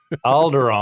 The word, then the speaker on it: Alderaan: uh no no no it rhymes with balgaron alderaan there you go i